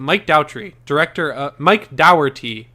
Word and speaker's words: Dougherty: I don't know if we ever talked about this, but Mike Dougherty is how you say it.